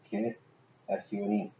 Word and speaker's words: Kitsune: Kit. S-U-N-E. Yeah, Kitsune. They shorten the sound on the U.